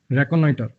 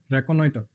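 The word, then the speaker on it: reconnoiter: चलो जी, ये जो वर्ड है इसका मतलब बेसिकली इसकी प्रोनाउंसिएशन है रैक ऑन नॉइटर, रैक ऑन नॉइटर, रैकोनॉइटर, रैकोनॉइटर, ऐसे है इसकी प्रोनाउंसिएशन।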